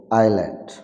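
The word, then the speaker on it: island: letter will be silent S letter will be silent for example আইল্যান্ড for example আইল্যান্ড মানে দ্বীপ দ্বীপ আইল মানে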